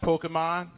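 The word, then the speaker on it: Pokémon: every day of the week you know it's pronounced Pokemon you guess the mystery Pokemon every day of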